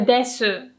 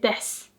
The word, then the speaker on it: です: It's the same with です. You don't say です. You say です.